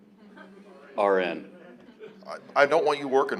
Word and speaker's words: Aron: Iran is like It's spelled like Aaron, but pronounced like registered nurse. RN.